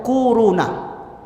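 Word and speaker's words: كورونا: Bacanya tuh kuruna.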